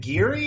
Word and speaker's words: Geary: show with today's guest Uh Kevin is it giri as am I pronouncing that right from rebooted body um that's